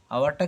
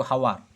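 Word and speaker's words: hour: আওয়ারটা কি বলছি না কিন্তু হাওয়ার, দেখো এইচ আছে, হাওয়ার বলছি না, উচ্চারণটা হচ্ছে আওয়ার, তো তার আগেও কিন্তু অ্যান বসে যাবে।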